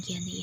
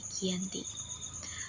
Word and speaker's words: Giyanti: Giyanti yaitu Desa Janti dalam pelafalan Belanda disebut baik Janti dan secara pelafalannya disebut sebagai Giyanti sekarang lokasi tersebut dikenal